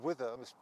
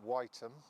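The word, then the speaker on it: Wytham: This is Wither, mispronouncing that. The 19th century way of saying it was Whiteham.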